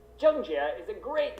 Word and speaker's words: Zheng Jie: Today, we're going to teach you how to pronounce the name of the rising star of Chinese tennis, Zheng Jie.